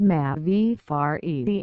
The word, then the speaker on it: Mavi Fare: bot note for readers M fair is pronounced m v far e and means literally Blue